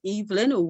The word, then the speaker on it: Evelyn: which is thank you my last name is pronounced Evelyn which is the British way to pronounce it as pronounce phonetically Eve and Lynn and so that's my